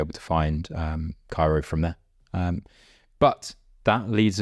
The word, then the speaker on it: Kiaro: Is it, I was going to say, is it like Kiaro? It's Kiaro.